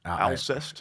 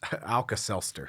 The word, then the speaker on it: Alcest: Alcest. Alcest. Alka-Seltzer.